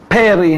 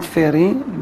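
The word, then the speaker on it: פרי: So, the halacha also says that we have to say Boreh Peri, not Feri.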